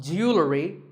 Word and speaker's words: jewelry: Word number 44 is jewelry. It's spelled differently in American and British English, but it's pronounced the same. Jewelry. Jewelry. It's not jewelry and it's not jewelry. It's jewelry. Up next is the word quote.